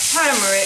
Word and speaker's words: turmeric: i'm adding turmeric that's how you say it turmeric for this and then i'm also going to